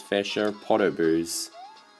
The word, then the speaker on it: Podoboos: And of course, what's a lava level without its fair share of Podoboos? Or as I used to pronounce it, Podboo.